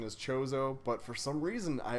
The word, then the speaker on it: Chozo: so like it makes sense that the official pronunciation is chozo but for some reason i always run it as kozo and it kind of sounds cooler I think